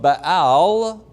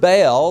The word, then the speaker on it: Baal: influence, the worship of Baal, Melquart, who was the official nature god of Tyre, was being actively brought into the kingdom. Now the word Baal, or Baal as it's pronounced, means master or possessor or husband.